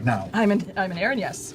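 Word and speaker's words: Erinyes: Aaron-S. Aaron, yes. Aaron, like Aaron, yes. Yeah, it's got yes bait right in.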